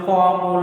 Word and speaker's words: calm: If you speak the correct pronunciation, you will get the easily silent letter given the word, like light, doubt, calm, lamb, tom, like these are the words.